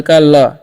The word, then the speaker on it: kill: ठीक है, तो जब भी आई के बाद दो कॉन्सोनेंट रहेगा तो उसका पहले उच्चारण आई का उच्चारण जो है हर्षी कर देना है। यानी कि आई के बाद दो कॉन्सोनेंट एल है, तो इसीलिए आई का उच्चारण हर्षी होगा।